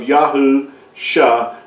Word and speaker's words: Yahusha: together you come you come with the uh pronunciation of yaho sha Yahoo revealing that salvation is found in Yahweh